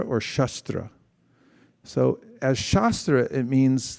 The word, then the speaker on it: shastra: when you say shastra it's just a short a rather than long a then what you're referring